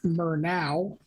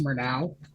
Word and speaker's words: Murnau: on to a group called mer now I think it's pronounced more now and this is a